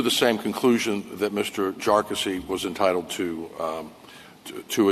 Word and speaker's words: Jarkesy: And by the way, it's pronounced jarassy uh not not a number of other ways that that it's been pronounced by by many.